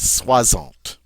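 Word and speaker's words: soixante: you can see here the word for 60 in French is Swant Swant this x is going to be pronounced like a z all right so 60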